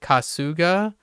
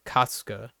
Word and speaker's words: Kasuga: an American person would read that in my opinion like kasuga which a lot of times most English words are emphasized on the second syllable with three syllables like if there were three syllables is commonly in the second one but in this case they actually said kasuka which it actually works